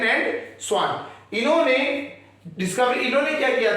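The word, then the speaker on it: Schwann: The cell theory that was given by, ये German scientist है, इनके नाम प्रोनाउंस करने में ना थोड़ा सा अलग रहता है। इन्हें कहते हैं स्लाइडन एंड स्वान। स्लाइडन एंड स्वान।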